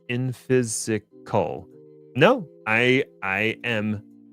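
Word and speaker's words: Infisical: open sourced and seems to be equivalent to vault and it's pronounced infysical.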